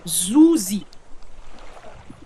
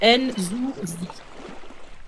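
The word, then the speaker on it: Nzuzi: Et le second s'appelle Nzouzi. Comme ça se prononce. Nzouzi.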